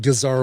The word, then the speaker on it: gazar: Chenille and gingham I didn't have to look up but I didn't know what gazar was.